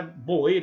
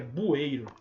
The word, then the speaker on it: bueiro: Não é boeiro, é bueiro.